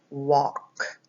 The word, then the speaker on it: walk: in the word walk the W sounds like Oh the a actually sounds like an O sound more like an O sound it's law the L is a silent L so you don't even hear the L and then we have